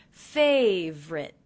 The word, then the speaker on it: favorite: one of my favorite I noticed that I'm dropping the middle unstressed syllable in favorite so it's not favorite but simply favorite favorite favorite things and